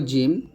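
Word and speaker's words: ج: ছা উচ্চারণ করতে হবে এখন শিখবো জিম জিবার মধ্যখান তার বরাবর উপতল লাগিয়ে শক্ত এবং মজবুত আওয়াজে জিম উচ্চারণ করতে হয়। তো জিমটা হবে এরকম যদি আমরা হরকত দেই জিম জবর জা জিম জের জি জিম পেশ জু জা জি জু এরকম আর এই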